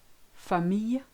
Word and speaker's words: famille: When you've got ILL, AIL, EIA, L, the L sound totally disappears. So listen to those examples. Vieille, aille, travail, famille, fille, soleil, Guillaume.